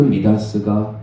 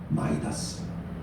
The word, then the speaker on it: Midas: 그 미다스가 영어식으로 발음하면 마이다스.